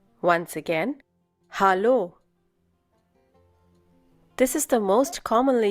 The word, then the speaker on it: Hallo: Hallo. Once again, hallo. This is the most commonly used form of greeting in Germany. Notice the difference in pronunciation. It's hallo and not hello.